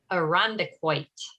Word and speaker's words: Irondequoit: And I can never pronounce the name of your town. Irondequoit? Irondequoit. Irondequoit.